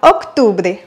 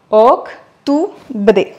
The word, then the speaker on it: octubre: Et on arrive au 10e mois, octubre, octobre, qu'on va décomposer en 3. Octubre. À savoir que le U en espagnol se prononce comme le OU en français.